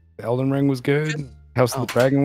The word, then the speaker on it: Elden Ring: me what is the Eldon ring the Eldon ring is basically no no no no no no don't say it like don't say it like that just say Elden ring that is a